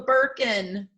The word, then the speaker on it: Birkin: like the name it's called a birkin it which rhymes with gherkin and merkin two things i know